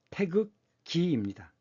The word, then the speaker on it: 태극기: 이 태극기는 태극기가 아닙니다. 태극기입니다. 태극의 문양을 갖고 있는 깃발이기 때문에 태극기라고 읽어야 맞습니다.